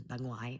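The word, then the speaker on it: bà ngoại: would ask her, like, Banoi is how you say grandma. And Vietnamese is very specific language. So, like, Banoi is grandma on your dad's side versus Banguai, which is grandma on your mom's side.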